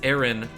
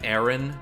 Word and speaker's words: Aaron: of dumb I pronounce Aaron Aaron says he has any curly I sort of say it like like it's ever like the air in error and then just in